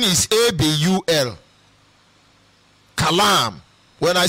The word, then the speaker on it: Kalam: I may not be able to pronounce it well, don't mind me. And when I say Abul, the spelling is A-B-U-L. Kalam. When I say Kalam, the spelling is K-A-L-A-M.